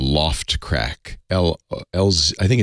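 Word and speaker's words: L0phtCrack: easy there's a program most people use called Loft crack LS I think it's l0 PHT c-r-a-c-k hello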